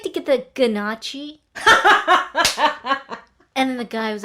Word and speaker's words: gnocchi: The way it's spelled, you want to say gnocchi for sure. Yeah. You want to. But the G is silent.